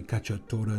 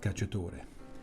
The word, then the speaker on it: cacciatore: la cacao chicken cacciatore actually kachota is the proper pronunciation but in america we call it cachatore so here it is